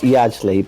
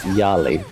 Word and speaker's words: Yajli: By the way, it's not Yajli, but pronounced Yali. Okay, but he put that J in there, so that's not my fault if I pronounce it, okay?